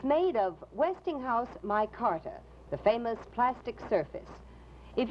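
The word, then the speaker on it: Micarta: smartest decorators are using my carter for furniture in modern homes remember it's spelled m-i-c-a-r-t-a insist on furniture topped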